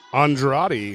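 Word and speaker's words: Andrade: Uh overall we have Mitchell Hooper in first place, Austin and how do you say his last name? Andred. Andradi. Andradi.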